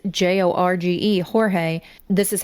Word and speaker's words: Jorge: named Sarah Boon stating that her boyfriend, 42year-old Jorge Torres Jr., was dead in their apartment. And I just want to say that his actual name is Jorge. It's pronounced Jorge, but he preferred the English pronunciation of George.